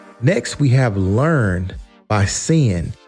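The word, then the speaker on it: Cynn: we have learned by sin and sin is spelled c y NN last but not least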